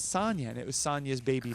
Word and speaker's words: Sanja: So Sanjay uh oh so it was uh it was uh so Sonia I mispronounced her name. It's Sonia and it was Sonia's baby sister.